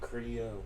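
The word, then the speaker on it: Criollo: Creoyo. I'm not following. What do you mean? Creo? You mean how it's spelled?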